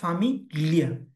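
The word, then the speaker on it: famiglia: ফামিলিয়া। ফামিলিয়া। কারণ জি এল এ থাকলে লিয়া উচ্চারণ হয়, ফামিলিয়া।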